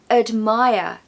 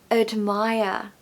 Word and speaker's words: admire: So admire, admire. And of course no R pronunciation at the end.